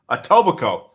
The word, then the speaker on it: Etobicoke: joel says uh that town in ontario is pronounced ataboki uh atabok atobako etobico okay etobico all right so right the next